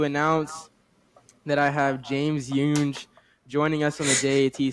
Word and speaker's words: Younge: Today, I am excited to announce that I have James Younge joining us on the J.A.T side today. James Younge is insane. It's James Young.